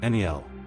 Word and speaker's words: Niall: Number four, Niall. Pronounced NEEL. Niall is one of those Irish names that carries warrior energy partly through meaning and partly through reputation.